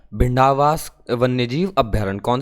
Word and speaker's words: भिंडावास: झज्जर और भीड़वास वन्यजीव अभ्यारण्य जो है इससे ऊपर वाला जो भी पढ़ के आए भिंडावास है, भीड़वास नहीं है, भिंडावास।